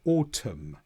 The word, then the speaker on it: autumn: However the N can be silent after the M. So, autumn. No pronunciation of the N.